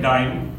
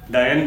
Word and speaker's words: dyne: Force की small unit होती है डाइन, DYNE, जिसे कोई डायन भी प्रोनाउंस करता है, तो हम डाइन कहते हैं, ये इसके स्मॉल फॉर्म है।